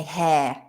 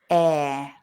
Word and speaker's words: air: We don't say hair, because then it would be this. This is hair, and that one is air. Without the H.